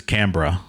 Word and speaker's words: Canberra: Pali, I looked it up. I believe it's Camra.